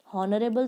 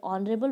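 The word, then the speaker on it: honourable: तो अब यहाँ पर आर, हावर तो नहीं बोलते अपन, हॉनरेबल तो नहीं बोलते, ऑनरेबल बोलते हैं ना, इसलिए यहाँ पर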